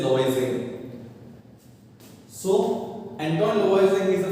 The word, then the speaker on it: Lavoisier: You know, dear students, whenever there is a vowel before an R, it is not pronounced Lavoisier. They don't say Lavoisier, they say Lavoisier.